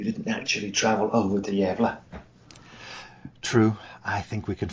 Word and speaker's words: Gävle: Well, I didn't know the right pronunciation, that's a start. I've been calling it gavel in my head.